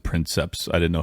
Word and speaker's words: princeps: and I always said princeps I didn't know how to pronounce it well it's in Latin a lot of times you pronounce your your C's are just hard um so oh that's